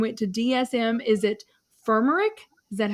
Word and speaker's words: firmenich: during covid and went to DSM is it fermer is that how you pronounce yes yes different F okay headquartered in